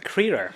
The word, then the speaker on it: Crerar: is one half of the filmmaking duo Barry Crerar, is my pronunciation? Crerar. Crerar, perfect, thanks.